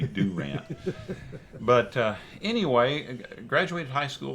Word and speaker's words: Durant: I graduated high school in Durant, which is about an hour and a half west of here. You said it wrong. Yeah, it's supposed to be Durant.